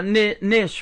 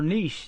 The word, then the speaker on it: niche: I think that's your niche right there, or niche as they say. I think, or niche. That's how you say it.